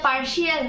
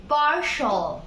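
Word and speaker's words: partial: এটা পার্শিয়াল না, এটা হবে পার্শাল।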